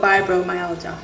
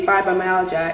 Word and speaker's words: fibromyalgia: I can never pronounce this right. So it's called fibromyalgia. Fibromyalgia. Yes. It's spelled G-I-A, so sometimes I'm like fibromyalgia.